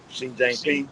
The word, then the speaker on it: Xi Jinping: Xi Jinping. Xi Jang Ping.